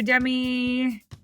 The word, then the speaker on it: Demi: ji happy birthday to Demi your name rhymes with Remy from Big City greens hope you have the